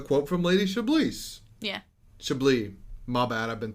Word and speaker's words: Chablis: Chablis. My bad, I've been saying the name wrong.